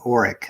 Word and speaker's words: Orick: the north of me called Orick. That's spelled O-R-I-C-K, not like the vacuum, which is O-R-E-C-K. But Orick is just kind of those one you blink and you miss it type of towns.